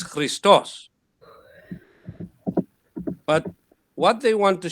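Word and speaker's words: Χριστός: have this word christos the emphasis is actually on the last vowel here so you pronounce as three stars but if you give the full pronunciation then it's christos christos no no no no sorry christos it's christos but what they want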